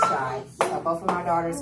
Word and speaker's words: Shai: Okay, so that's when you denote my difference of writing it, but they both are pronounced Shai.